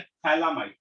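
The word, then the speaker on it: phthalimide: इसका नाम है थैलामाइड, पी साइलेंट है। अंग्रेजी लिख, थैलामाइड react with KOH. Thalamide react with KOH, then treated with alkyl halide which on hydrolysis gives primary amine.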